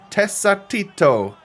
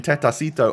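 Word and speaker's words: Tecatito: Beautiful ball into the box from Tesatito, I think is the correct way to pronounce Jesus Corona's name. You guys were annihilating me in the comments for saying Tetacito.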